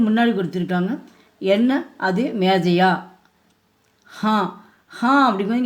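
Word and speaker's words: हाँ: ஹா அப்படிங்கும்போது இங்கே சந்திரபிந்து வந்துருக்கு. நம்ம மூக்கில் தான் அது வந்து உச்சரிக்கணும். ஹா அப்படின்னா ஆமாம்னு அர்த்தம்.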